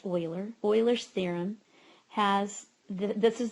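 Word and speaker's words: Euler: this slide is called Oiler theorem um looks like it should be uler but is pronounced Oiler Oiler theorem has this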